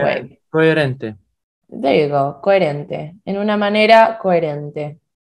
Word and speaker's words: coherente: There you go, coherente. En una manera coherente. Remember that the H is silent, okay?